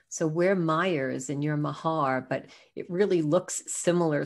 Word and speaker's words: Maher: i saw your name i thought we just pronounced it differently so where myers and your mahar but it really looks similar so i thought